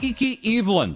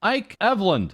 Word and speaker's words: Ike Eveland: still restricted on twitter iki evelyn or as niji sanji english talent olira pandora had clarified is actually pronounced ike evland or was that ike eveland no wait that was